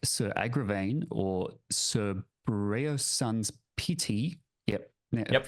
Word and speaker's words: Breunor: Knights like Sir Agravain or Sir Breunor's sons pity. Yep. Yep, pronunciation was was flawless there.